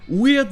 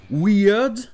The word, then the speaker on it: weird: Weird n'a pas vraiment le son I. Ça se prononcera des fois weird ou alors weird.